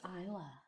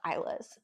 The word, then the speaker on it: Isla: balance of What is Isla? It's a great question. Oh, that's such a good question. And that is how you pronounce it, right? Yeah, Isla? yeah.